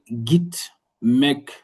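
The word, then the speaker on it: gitmek: C'est le jeu dur en français dans gare ou bien guerre, sans valeur de J. Donc, français, on va dire git, mec, git, mec, git, mec, qui peut signifier aller ou bien partir.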